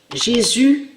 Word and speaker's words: Jésus: Donc de l'autre côté, comme je vous ai expliqué, Jésus inverse, ça veut dire que Jésus avec un S, il faut bien prononcer et bien le dire.